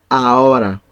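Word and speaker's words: ahora: now okay A a we don't pronounce the h because it's silent in Spanish always the H is silent letter so we we say like this a mhm so guys let's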